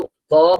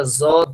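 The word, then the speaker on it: ضاد: কেউ কেউ দদ বলার সময় অনেকটা জদ শোনা যাচ্ছে। জদ, জদ বলা যাবে না। জ, জ এর কোনো উচ্চারণ এখানে নেই। এটা হলো দ। দ মনে করেন যে বাংলায় দ, বাংলায় ধরেন দাড়ি পাল্লা লিখতে যে দ লাগে, এই দ এর উচ্চারণটা হবে দদ।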